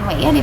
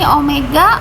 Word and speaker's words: omega: penampangnya ini hai oh ini Omega bukan Wiyadi bacanya ini Omega Omega itu kecepatan sudut